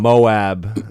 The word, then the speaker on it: MOAB: Yeah, I think they call it Moab. That's what Andy's saying there. Moab. Oh, is that right? Yeah, Moab? I think that's how they pronounce it. So does that help your answer if I say Moab? Moab. No, that's what the like mother of all bombs. That's what how the military would say it.